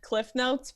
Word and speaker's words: CliffsNotes: pronounce it either but a lot of people don't pronounce the first s so so Bibi since